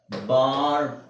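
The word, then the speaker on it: barbed: ಬಟ್ ಡ ಬೆಡ್ okay ಆದರೆ ಈ ಪದನ ನಾವು ಕೂಡಿಸಿ ಓದಬೇಕಾದರೆ ಕೂಡಿಸಿ ಓದಬೇಕಾದ್ರೆ ಏನಾಗುತ್ತೆ ಬಾರ್ಡ್ ಅವಾಗ ಏನ ಏನಾಗುತ್ತೆ ಈ ಇಸ್ ಸೈಲೆಂಟ್ ಈ ನ ಹೇಳೋಹಂಗಿಲ್ಲ ನಿಮಗೆ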